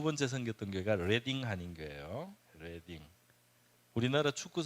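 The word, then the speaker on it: Reading: 리딩이죠. 그래서 우리 지도책에 보니까 리딩이라고 번역을 했는데 이거는 고유 명사예요.이 지명.이 도시는 레딩이라고 읽습니다.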